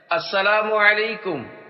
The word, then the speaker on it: السلام علیکم: والا سن لے۔ 11، سلام اور جواب سلام کا درست تلفظ یاد فرما لیجئے۔ پہلے میں کہتا ہوں، آپ سن کر دہرائیے۔ السلام علیکم، اب پہلے میں جواب